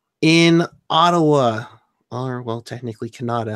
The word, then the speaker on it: Kanata: Ottawa our well technically Kanata Ontario pronounce Canada okay but whitening win